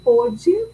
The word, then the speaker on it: pôde: É a palavra pôde para indicar o passado e pode com som aberto para indicar o presente.